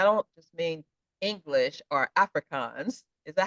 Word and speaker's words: Afrikaans: And I don't just mean English or Afrikaans.